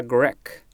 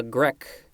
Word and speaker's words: grecque: Next we have a la grecque. A-L-A, just like a la mode, a la carte. No, a la mode isn't in here. Wait, it is coming up. Just like a la carte, grecque is spelled G-R-E-C-Q-U-E.